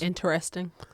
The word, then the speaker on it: interesting: friend female friend that pronounces the word interesting correctly with all the syllables interesting don't pass go she's